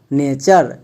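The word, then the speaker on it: nature: ইউ আর ই চার নেচার তাহলে টি ইউ আর ই একে আমরা ভুল করেও টুরে এরকম উচ্চারণ করবো না এর উচ্চারণ হবে টার কারণ প্যাটার্ন এর ক্ষেত্রে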